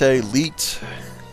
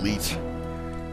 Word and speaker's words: Lete: it's one of those is it let leite I always called it leite made popular before the internet slang oh Le oh which which would rhyme with Pete mm and dish out